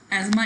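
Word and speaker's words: asthma: एजमा इसको pronounce करते हैं, अस्थमा नहीं प्रोनाउंस करते, टी इज साइलेंट हेयर।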